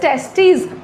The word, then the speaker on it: testes: तो बेटा जब हम लोग पेयर की बात करते हैं कि लाइक हम दो टेस्टीज की बात कर रहे हैं तो स्पेलिंग में हो जाता है TESTES, दिस इज टेस्टीज। लेकिन अगर हम सिंगल टेस्टिस की बात करें तो इट इज टेस्टिस, जिसमें आई आ जाता है।